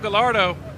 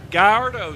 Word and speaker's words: Gallardo: but right now fito Gallardo Gallardo excuse me I've been pronouncing his name wrong for a year and